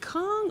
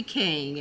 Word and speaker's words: King: Someone was like, is it Kong or King? I keep hearing several pronunciations. It's officially King, everyone. It's King. King. His last name is King.